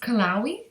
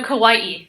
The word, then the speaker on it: Kauai: Is it pronounced Kauai? No, Kauai.